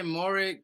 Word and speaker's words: Moehrig: Now his last name is it Moehrig? I can never pronounce this thing. It's Moehrig.